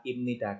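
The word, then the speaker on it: 입니다: imnida balem denida Balonku pengucapan diucapkannya adalah imnida karena ada B mati ketemu dengan n makanya bisa ada tulisan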